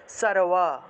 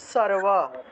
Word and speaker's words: সর্ব: মনে করুন এখানে সর্ব আছে, ঠিক আছে, এটা উচ্চারণ কী হবে, সারওয়া। সর্ব আছে, এটা উচ্চারণ কী হবে, সারওয়া, উচ্চারণটা হবে সারওয়া।